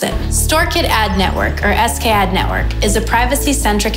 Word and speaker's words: SKAdNetwork: It would probably be good to first understand exactly what SKAdNetwork is, and maybe how to pronounce it. StoreKit Ad Network, or SKAdNetwork, is a privacy-centric API that is operated completely by Apple.